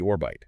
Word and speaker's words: Orbyte: They call it the orbital, pronounced like orbit, right?